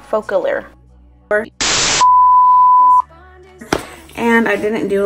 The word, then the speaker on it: Focallure: by a brand name full of cure hey so future Ally here I'm actually pronouncing the brand name right wrong the entire time which actually pronounced a focal or focal ear word and I didn't